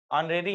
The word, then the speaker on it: honorary: ऑनरेरी हम इसको पढ़ते हैं, इसको हम ऐसे पढ़ते हैं, ऑनरेरी, ऐसे प्रोनाउंसिएशन करते हैं इसका।